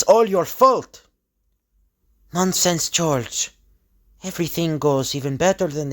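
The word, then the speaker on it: Georges: first name is just George it's the French name like the Quebec name for George is uh has like an S at the end the the S the S is silent George Baptist and a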